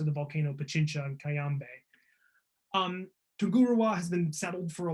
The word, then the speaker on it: Tungurahua: So the volcano I'm going to talk about is Tungurahua.